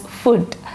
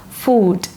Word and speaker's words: food: Okay, how do you pronounce food? I heard some people are saying it as food. It is wrong. It's not food. It is food.